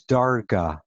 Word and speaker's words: darga: The Aramaic is darga. You could spell it D-A-R-G-A, Dalad Resh Gimel Aleph. Darga, like the Hebrew madrega or daraga.